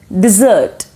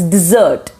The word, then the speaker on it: dessert: then number 13 is dessert okay like normally we have some sweet after dinner then we call it as dessert it is not dessert it's dessert right it's dessert number 14